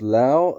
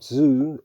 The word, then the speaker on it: Lao Tzu: for the doubting says pronounce lao as if it was the last syllable of allow pronounce zoo as if it were dz leaving off as much you as possible so the author lao